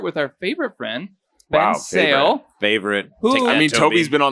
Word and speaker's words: Sehl: And if you're confused about how to pronounce his last name, which is spelled S-E-H-L, a good way to remember is it's Sehl, like rails.